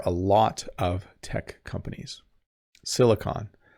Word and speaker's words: Silicon: Silicon Valley, not silicone. Silicone is like a substance you use to glue things together or seal things, but silicon, hopefully I'm saying it right.